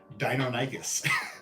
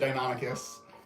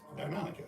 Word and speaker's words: Deinonychus: which which for most of my life I pronounced dinon nigus so um but that shows that you know